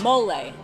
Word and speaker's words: mole: meat and then covered with, how do you pronounce that? Oaxaca? Yes. Mole.